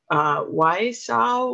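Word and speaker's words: Wausau: shepherd lutheran church and i don't know if i'm going to pronounce this correctly why saw wisconsin is that right yeah okay she's also involved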